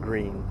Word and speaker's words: Gruene: That's German. Actually, I think the locals pronounce it Green Texas.